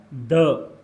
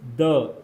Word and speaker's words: the: Definite article, definite article आपके पास कौन सा होता है, डेफिनेट आर्टिकल आपका होता है द, दिस इज द। इसको आप क्या पढ़ते हैं, द यानी कि द या फिर दी, द या फिर दी हम इनको प्रोनाउंस करते हैं।